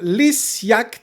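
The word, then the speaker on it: Lysgjakt: of this life norway uh with band called lis yacht spell it l y s g j a k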